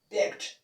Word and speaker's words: begged: So when we pronounce it, we pronounce it in a normal D. So you can say begged.